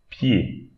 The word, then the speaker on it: pied: Now, here, this word, the E-D at the end, we should pronounce it E. Pied.